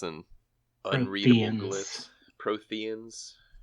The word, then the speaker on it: Protheans: We got Proteans and unreadable glyphs. Protheans. It's a silent H. It's a silent H. Like in herb.